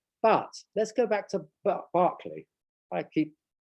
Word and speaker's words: Berkeley: let's go back to berkeley i keep i could never know whether i should pronounce it berkeley or barkley it was actually berkeley when berkeley wrote the book so perhaps i should say berkeley but it's partly to